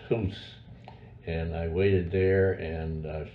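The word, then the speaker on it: Goes: the village of Hoos, G-O-E-S, pronounced Hoos.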